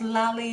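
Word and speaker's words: Lali: Yes, Lolly and Lola, dynamic duo, exactly. Exactly. Her name is spelled L-A-L-I, like Dali, like Salvador Dali, the painter. But yeah, that's her name, Lolly.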